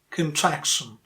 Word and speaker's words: contraction: What about this word? Contraction. Contraction. The stressed syllable? Track. Traction. Traction. Contraction.